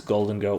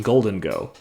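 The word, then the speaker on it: Gholdengo: The H in Golden Go. It's GHO, like ghoul. And I was like, I don't... Anyways. Yeah, anyways. Okay, so Golden Go.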